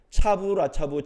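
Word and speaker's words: צו לצו: 경계의 경계를 더하고 교훈의 교훈을 더하고 이게 히브리어로 읽으면 이런 발음이 난다 그래요. 차부라차부 차부라차부 카부라카부 카부라카부 그러니까 우리가 이렇게 말 그러는구나 이렇게 말하는 거죠.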